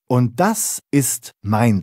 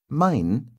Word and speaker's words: mein: In fact, mein even rhymes with ein, doesn't it?